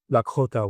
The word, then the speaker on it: Lakota: way, this is the Lakota way. And I do it with the the real pronunciation supposed to be the K with the K H after that. So, Lakota. I sort of just find